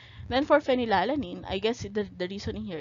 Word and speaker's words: phenylalanine: become k then for phenylalanine i guess the reasoning here is again sounds like the the ph sound is pronounced as an f so it's a phenylalanine